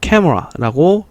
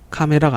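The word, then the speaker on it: camera: 예, 보시다시피 약간 우리가 카메라라고 읽지 않고 캐머라라고 읽습니다. 카메라는 캐머라. 다시 카메라는 캐머라 라고 해서 카메라가 아니라 캐머라.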